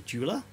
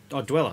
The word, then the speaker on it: Dweller: pedal this is the jeweler from old blood noise endeavors is it jeweler or dweller dweller sorry dweller it's a w man i even knew it was dweller and i said it wrong yeah so that guy